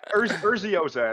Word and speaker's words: Urzioza: Now I know how to say it. Urzioza is how you say it.